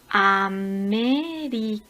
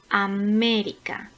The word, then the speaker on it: América: Por ejemplo, América. América tiene la sílaba tónica en la tercera sílaba comenzando por el final. Me.